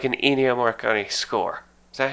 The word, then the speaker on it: Ennio Morricone: But here's the thing: that does not sound like an Ennio Morricone score. Is that how you say his name? Yeah, Ennio Morricone.